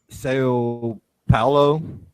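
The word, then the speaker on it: São Paulo: In Brazil, in Sao Paulo, that's how you pronounce it.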